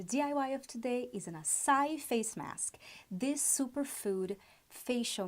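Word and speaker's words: açaí: It sounds like I say acai, but the pronunciation is acai, or in Portuguese, acai.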